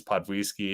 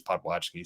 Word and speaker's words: Podwojski: ] my bad bro the odd thing is that it's pronounced like five different ways with my family like if you're my polish relative is podwisky if you're my brother is if you're me it's potwatchkey so I don't really